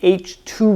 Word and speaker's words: H II: Now let's talk about the H2 regions. And yes, that's how you pronounce that.